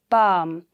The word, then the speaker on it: palm: amount now next is palm we don't say balm right the l remains silent it will be only